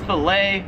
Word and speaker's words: fillet: Number 17 is fillet, or it's fillet if you're American. Here in Australia, they pronounce it as fillet.